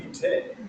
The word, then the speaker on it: Vite: So, French would be Vite.